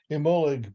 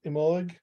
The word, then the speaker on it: Imbolc: knew how to pronounce emollig before is that right emolic yeah Emma look or imbalog yeah okay emolic or embolic it's almost like the sea gets swallowed a little bit at the end right yeah in contemporary